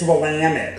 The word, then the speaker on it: Willamette: willamette you know uh-huh so then element it's willamette so we see from michigan mackinac but it's